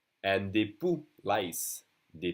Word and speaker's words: poux: And des poux, lice. Des poux. Again, we don't say the X.